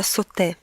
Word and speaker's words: sauté: Следующее французское слово, которое вы можете встретить где-нибудь в рецептах, это «sauté». Пишется S-A-U-T-E, но только во французском это не просто «и», это «и» со значком, который дает ему вот это произношение «sauté».